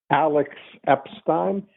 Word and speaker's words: Alex Epstein: Alex Epstein? That's right. Perfect pronunciation.